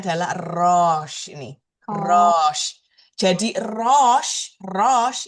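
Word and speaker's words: ראש: Ingat, semua huruf dalam bahasa Ibrani itu konsonan. Jadi aslinya dia tidak berbunyi di sini. Jadi kalau misalkan dia pelafalannya mau tepat, harusnya dia rosh gitu, harusnya. Tapi kita ngomongnya rosh.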